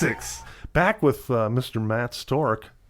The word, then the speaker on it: Storc: Matt stork am i pronouncing that correctly or is it stored ship no yeah you had it right there okay the first time but the third one